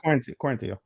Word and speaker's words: Quarantillo: You're right, Quarantillo. You want to say it in Spanish, even though he's not really Spanish.